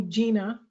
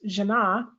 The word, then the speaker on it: Jina: j i n a people almost universally call me Gina when they first meet me and then when I let them know oh my name is pronounced janah there's this apology and